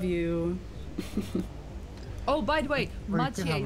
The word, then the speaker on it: Mathieu: Oh, by the way, Mathieu's name is pronounced Mathieu.